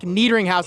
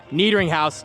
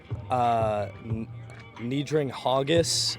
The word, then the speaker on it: Niederinghaus: I've had like Niedring Haugus. I don't know where you get the Haugus from, but yeah, I've had all sorts of pronunciations over the years.